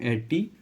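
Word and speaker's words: etiquettes: इसका correct pronunciation होता है, अगर आपसे नहीं पढ़ा जाए तो वो भी लिख देता हूँ, एटिकेट्स, ठीक है। ये इसका प्रोनाउंसिएशन होता है, ठीक है।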